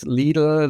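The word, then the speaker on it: Lidl: CR so I think what happened with leele that's the way you would pronounce it in in German Le Netherland they're basically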